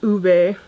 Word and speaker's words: ube: says u P but she said that it's pronounced ube and I guess I'll swatch the older ones